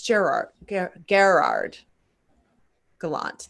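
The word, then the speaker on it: Gerard Gallant: do you say it it's like super french like gallant or is it gerrard no it's gerard garrard gallant the former do you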